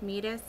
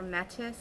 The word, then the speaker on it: Metis: 539, I think, is pronounced metis or metis, M-E-T-I-S, and this is a gold shimmer, like a true gold, deeper than Celene.